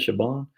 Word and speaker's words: Siobhan: Did you know what Siobhan is not pronounced like it looks? Shaban or something like that? Shaban.